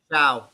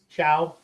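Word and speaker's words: Shough: Um, Travon Henderson, Tetra MC McMillan, and Tyler Show. Is that how you say it? Shiao. Shiao. Yep.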